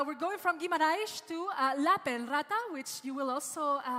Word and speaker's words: Lappeenranta: Well, you pronounced quite well. Lappenranta. La Penrata. Yes. La Penrata. Two P's and two La A's. Penrata. Okay, so making stressing the P's.